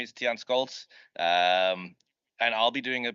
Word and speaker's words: Scholtz: Scholtz.